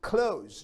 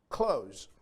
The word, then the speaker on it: clothes: clothes or clothes it's clothes just like you know when you close the door it's the same pronunciation clothes um this is the